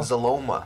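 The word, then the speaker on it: Xyloma: It's like It's like xylophone but without a phone. And you add a ma.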